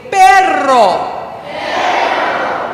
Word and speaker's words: perro: That one's a little more difficult because you have to roll your R's. Can you go rrrr? I have some friends who go and so the word for car in Spanish is carro. The word for dog is perro.